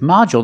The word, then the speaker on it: module: this word module with module distress on the first syllable so the second syllable is short and we see the D makes the J sound like juice and jump